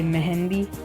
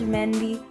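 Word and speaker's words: Mehndi: And it sounded weird when I said that because here in like my house we say Mehendi, but apparently it's pronounced Mehendi, so whatever, I'm calling it Mehendi.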